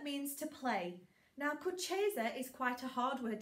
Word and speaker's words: Kucheza: Now, Kucheza is quite a hard word to get your mouth around, so we're going to split this word up. I'll do it slowly in syllables, Kucheza, and then I'll hand it over to Mr.